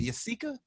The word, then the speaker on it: Yessika: It Yessika? Yessika. Yessika. Yessika. So it's Jessica, but with a Y.